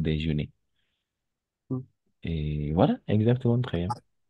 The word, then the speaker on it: déjeuner: Pero cada vez que termine en ER, todos los verbos que terminen en ER, todo eso se va a pronunciar E. O sea, aquí, detrás de este ER, está la E. Por eso es déjeuner.